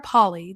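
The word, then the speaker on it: Polley: apparently her last name not Polly Polly Sarah Paulie that I was told that's how you pronounce her name because I was saying Poli because it's spelled p-o-l-l-e-y and I'm weird when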